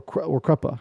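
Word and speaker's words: Kruppe: do that, which is Krupp, or Kruppa, as it's pronounced by the narrator, who draws them as dream state to like a nice save cruppa.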